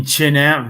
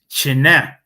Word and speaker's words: Chinat: made to hide in Chinat village on Kiyosin. It's not China, it's Chinat, if you want to pronounce it correctly in Rokot.